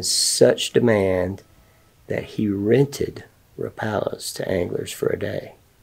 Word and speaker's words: Rapala: But I also love the Rapala, which turns out, after all these years, it's supposed to be pronounced Rapala, because the Rapala family pronounces their name Rapala, and they're the ones that get to say.